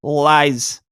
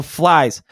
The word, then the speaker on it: Phylzzz: So to me it's pronounced flies. So flies.